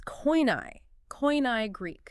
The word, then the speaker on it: Koine: I had to gently remind him that, well, in standard academic settings, we use the Erasmian pronunciation. It's Koine Greek.